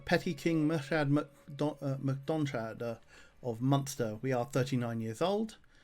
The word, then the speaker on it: Munster: Must make sure that I'm pronouncing it Munster, because I have a tendency to try and pronounce it Munster, which would be the German territory.